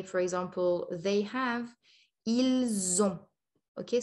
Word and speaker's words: ils ont: So il, we don't pronounce the S when it's on its own or before another word, but before on, which starts with a vowel, we'll say ils ont, okay?